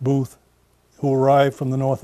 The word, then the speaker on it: Beath: It turns out that Boothbay may very well have been named for Walter Booth, or Beath, pronounced Booth, who arrived from the north of Ireland.